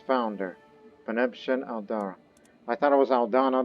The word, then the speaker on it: Aldara: I thought it was Aldana the entire time, until, I saw the Aldara dynasty that we've created, this cadet branch of it,